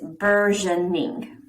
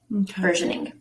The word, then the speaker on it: burgeoning: is b-u-r-g-e-o-n-i-n-g but never seen that word really pronouncing it is versioning versioning um the example is Colorado's burgeoning marijuana industry